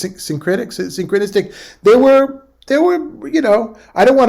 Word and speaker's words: syncretistic: We'll talk more about that later, Helios, that was found in churches that were synchronistic. Is that the right way to say it? It's syncretistic.